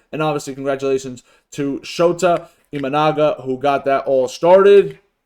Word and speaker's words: Imanaga: the Pirates but last night Shota manga IM imanaga okay sorry for the mispronunciation he pitched for seven Innings got seven